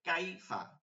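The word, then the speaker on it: كيف: নরম করেই পড়ে যাইতে হবে ইয়াকে কিভাবে হইতেছে কাইফা কাই কাই কাই এই যে ইয়াটা ধরছেন এটা শক্ত বুঝাবেই না শুধু ইয়ার উচ্চারণটা আসবে কাই কাই ঠিক আছে তো এইটা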